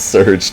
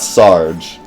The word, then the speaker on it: Serge: Surge is a French name, but is it pronounced Surge? Pretty much. Don't pronounce the E. It could be like Surg.